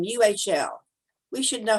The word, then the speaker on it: Uhl: U-H-L. We should know how to pronounce that. I should. Well, you're muted, Mim, so. I would pronounce it Uhl. Uhl, okay. Like you are.